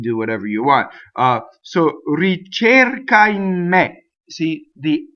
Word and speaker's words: ricerca: Ricerca, right? So it's a. Ricerca, right? It doesn't rhyme with chair. Chair, no, not chair, right?